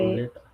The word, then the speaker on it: roulette: the Roulette.